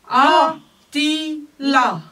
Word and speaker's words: Atila: A-ti-la. Voilà. A-ti-la. Voilà. A-ti-la. D'accord. Faites bien attention à poser le ti. Hein. A-ti-la. Ils sont presque dans, sur le même souffle.